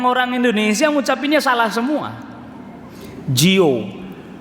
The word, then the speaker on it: Dior: Indonesia ucapinnya salah semua Jio Dior Bu di or itu bacanya Jio tuh Indonesia salah semuanya semuanya Hai HP yang